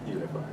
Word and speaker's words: Uneefi: So that's how you pronounce it, Uneefi? Uneefi, yes. Okay.